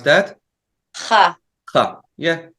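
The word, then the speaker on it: ח: How do you pronounce that? Ha.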